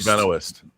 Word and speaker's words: Benoist: the actress's name for the life of Benoist. There you go. That's how you pronounce it.